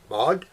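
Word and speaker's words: Maud: name with pleasure okay well her first name is spelled m-a-u-d mod i live in france and yes he can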